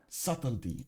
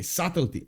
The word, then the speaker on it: subtlety: This is subtlety. Okay, subtlety.